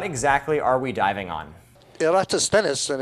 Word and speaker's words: Eratosthenes: Eratosthenes, and it's taken me a long time to